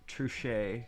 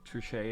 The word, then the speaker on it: Truchet: with the idea of true shay or or trujit trichet is probably how you pronounce it true shade tiling